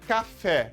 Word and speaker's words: café: Por exemplo, a palavra café. Vamos chamar a palavra? Café! Café! Perceba que esse fé, tá? É a sílaba forte. Ela está na última posição.